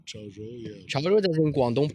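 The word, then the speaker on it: 潮州: And then You're I went pronounced to perfect. Xiamen. No, Chaozhou. Chaozhou. Chaozhou, yeah.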